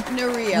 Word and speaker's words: Narea: It's Narea. Narea. Like Narea. People like Maria Narea. People have to get used to it. I have to put the accent on the right place.